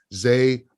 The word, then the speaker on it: Zay: When you see it spelled to be Z-A-H, it's pronounced Zay, not Zaw. Zay Frazier, cornerback, 4-star, originally committed to Kentucky and then flipped to UTSA.